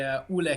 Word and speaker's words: Ole: So I have to introduce to you Ole. Is that pronounced correctly, sir? It's actually Ole.